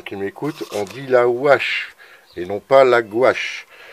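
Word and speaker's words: houache: Alors, si j'ai des normands ou des Parisiens qui m'écoutent, on dit la wash et non pas la gouache.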